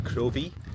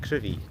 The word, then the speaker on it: Crovie: I always thought I'd read on the map it was Crovie, C-R-O-V-I-E, but yeah, it's pronounced Crivie, C-R-I-V-I-E.